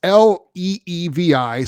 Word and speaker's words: Levi: it to us again well it's leevi so Levi Levy I don't know the two e make me want to say Levy but it could be Levi uh